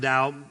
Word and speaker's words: Tao: dow is so again the tao or pronounced dao literally means the path